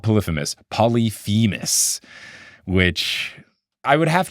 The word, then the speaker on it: Polyphemus: Everybody mispronounced it in 9th grade when we read the Odyssey, and so it was like, no, it's Polyphemus, it's Polyphemus, it's Polyphemus.